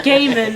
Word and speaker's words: Gaiman: ever listen forgive me he's British I know not Japanese so it's Neil gaim not Neil G yes this is true